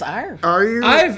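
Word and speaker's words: Éire: Is it air? Is it? How I do think you? it's Ire. I've just kind of. I mean, I don't pronounce anything.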